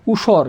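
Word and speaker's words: উষর: আমরা জানি রস্যাউ থাকলে তার উচ্চারণ হয় রসাউ, মূর্ধন্য থাকলে এর উচ্চারণ হয় তালবস্য। এরপর আছে র থাকলে কী হবে? র হসন্ত হবে কি? উসর। কী হবে? উসর।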